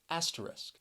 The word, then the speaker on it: asterisk: symbol right here and the word has three syllables and the stress is on that first syllable that second syllable you hear that schwa and i think this word can be a bit difficult because sometimes you people may just forget about that second syllable and really just say it as two but the word does have three syllables and you you really you gotta really listen for that second syllable with the schwa aster risk asterisk usually